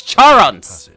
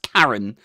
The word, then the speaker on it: Charon: the pronunciation of Charon it's definitely pronounced Charon it's not pronounced Karen okay that is impressive